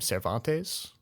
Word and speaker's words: Cervantes: famous novel Don Quixote by, how do you pronounce his name? Cervantes?